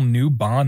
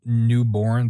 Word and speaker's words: Newbon: I totally mispronounced Neil's name. It's Neil Newbon, not Neil Newborn.